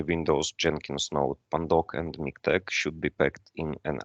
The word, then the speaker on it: MiKTeX: on the correct pronunciation it's miktex like latex it's not miktex or latex uh it's